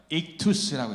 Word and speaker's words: 익투스: 저 글씨만 따로 따서 뭐라고 읽냐면 익투스라고 읽어요. 익투스.